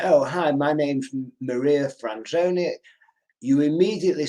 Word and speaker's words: Maria: for their name and i bet you get lots of marie's rather than maria's is that possible yeah marie mary um yes i often get my name pronounced wrong yeah which and it's not a difficult name really maria i appreciate the surname